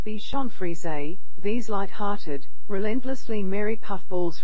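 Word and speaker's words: Bichon Frise: fries 46 thicken fries 46 bacon fries pronounced Bichon frize these light-hearted relentlessly merry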